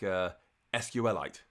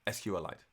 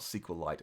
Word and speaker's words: SQLite: if you are curious SQLite is pronounced like it's a mineral officially and I've met the crater D rigid hip and it's pronounced like SQLite as in his head like it's like kryptonite SQLite so if you want